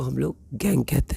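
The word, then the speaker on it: gangue: यहां गैंग नहीं बोलेंगे। यू ई नहीं बोलेंगे। यहां सिर्फ गैंग हम लोग इसको प्रोनाउंस करेंगे।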